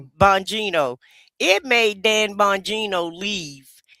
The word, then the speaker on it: Bongino: Bongino.